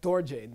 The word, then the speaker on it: Dorje: Except for weird exceptions, like Dorje, like that R shouldn't be pronounced, okay?